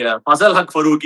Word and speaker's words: Fazalhaq Farooqui: "Fazalullaahaq Farooqui" He's actually Fazalhaq Farooqui Even now, I'm not